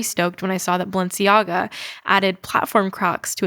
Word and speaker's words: Balenciaga: Balenciaga. Pronunciation. Balenciaga.